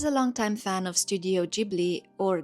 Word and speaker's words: Ghibli: As a longtime fan of Studio Ghibli, or Ghibli depending on how you want to pronounce it, I'm extremely disappointed with this whole situation.